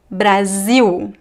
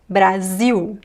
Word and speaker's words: Brasil: Uh but at the end of syllables, attention. The l is pronounced as a u.